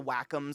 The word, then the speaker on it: Wacom: had to have a Wacom tablet Wacom we looked up you actually pronounce it Wacom which I [ __